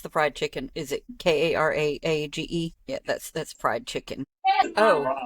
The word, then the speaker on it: karaage: No, but I think I said karaage or kararage or something before, but yeah, it's karaage.